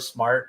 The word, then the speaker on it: smAIrt: how I pronounce it it's just like the word smart it's not smart unless